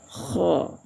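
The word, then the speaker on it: خ: Kalau membaca huruf K. Kalau tafkhim mulutnya agak agak di majukan sikit. Hm. K. Hmm. Monyong sikit ya. Tapi kalau dibaca kha itu dia tipis. Hmm. Tapi kalau ee hukumnya tebal takhim cara membacanya kho antara ee huruf O dengan huruf A.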